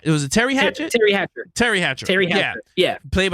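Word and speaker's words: Teri Hatcher: encoder yeah um when paris was played by tyra hatchet um did i say her name right it was a terry hatchet terry hatcher terry hatcher terry yeah played by yeah paris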